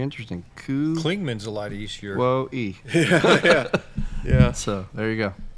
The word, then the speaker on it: Kuwohi: Wait, I want to say Les's name it's pronounced Ku Wo He, and it's spelled Kuwohi. There you go. And that's going to be the new name for Klingman's Dome. Very interesting. Klingman's a lot easier. Kuwohi.